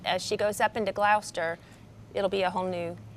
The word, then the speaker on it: Gloucester: in love with Panama City so you could pronounce it like Gloucester Gloucester okay gotcha see they have another town called